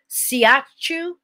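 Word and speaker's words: shiatsu: Sports massage, siachu.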